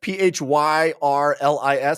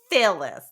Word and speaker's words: Phyrlis: Fearless, Phyrlis, Fearless. Oh, I'm sure you're correct. I definitely, my brain was like, Phyllis.